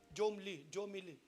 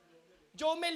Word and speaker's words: Jomel: Jomili. Hindi ko alam kung anong bigkas nun eh. Jomel yun eh. Jomel siya.